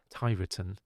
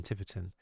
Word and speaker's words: Tiverton: out it's no yeah i called it um thai written rather than tiverton but thankfully people at